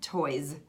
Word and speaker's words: toys: spelled with a team another good one would be toys so you know the word toys many times that S has turned into a Z toys toys get out your